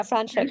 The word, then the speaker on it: Franschhoek: Yes, yeah, Franschhoek, Franschhoek.